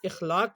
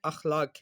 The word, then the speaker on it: اخلاق: تھے۔ اب ہم نے اس کا تلفظ یہ ہے، اخلاق نہیں ہے، اخلاق ہے۔ اخلاق ہم نے پڑھا،